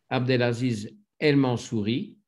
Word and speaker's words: Abdelaziz El Mansouri: Abdelaziz El Mansouri, prononciation française cette fois-ci, anglaise dans le premier épisode.